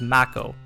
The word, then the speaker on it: Mako: and Aries was bad everyone's been pronouncing Mako wrong posting this because I've been watching a bunch of videos and no one's pronouncing it right I blame the shark it's Mac o for extra butthurt I